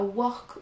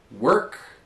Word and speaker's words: work: L'un comme l'autre, on a souvent envie de prononcer un O, parce qu'il est écrit, mais en fait, on ne l'entend pas. Donc, on n'entend pas work ou word, mais... Work and word.